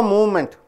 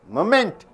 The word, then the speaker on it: moment: you mean by moment how do you pronounce it movement no movement moment you don't say movement moment M and M and N all three through nose moment you don't say moment